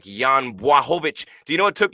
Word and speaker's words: Błachowicz: It's Bwah, BWAH, and that's why I couldn't get it. I thought it was blah, and I'm going blah bitty blah, and he's going no, Błachowicz, Bwah.